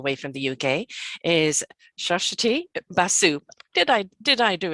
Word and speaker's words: Suswati Basu: from the uk is shashati basu did i did i do it right completely it is spelled totally differently from its pronunciation yeah we are we